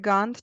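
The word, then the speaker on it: Gantt: chart yeah let's say created web components edit Gand chart and do you remember the name of that Library which hard name one moment created web components added not edit but added added a Gand chart added a gun chart uh how do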